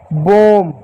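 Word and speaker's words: bomb: क्या म हो गया बम या बम इसको कहेंगे बम क्या बम ये हो जाएगा बम बी को ब नहीं पढ़ेंगे। यहां पर बी साइलेंट आएगा।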